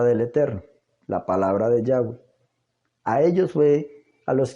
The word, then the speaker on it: Yahweh: a usar la forma yahwei así está pronunciación del tetragramatón nunca se perdió realmente las transcripciones griegas indican que y hwh Debería ser pronunciado yagüe esto lo puede usted